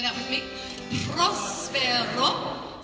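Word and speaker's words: próspero: Prospero. So you need to roll your R's. Prospero. If you can't roll your R's, then say prospero. Put an L there instead because that's closer to it.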